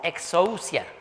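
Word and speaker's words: ἐξουσία: La palabra griega que utilizó para decir toda autoridad es una palabra que se pronuncia como exousia.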